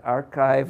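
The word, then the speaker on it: arXiv: here as I have is it archive or arc sieve I do I'm archived is the official okay we could schedule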